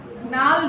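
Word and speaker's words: gnarled: And then there is something called as nal denamel. G is silent.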